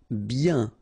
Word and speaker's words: bien: Bien. Okay, so remember, when you get this combination of I-E-N, you get the sound yen, okay, and then B.